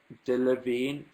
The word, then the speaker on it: Delevingne: How do you pronounce her name? Delevingne.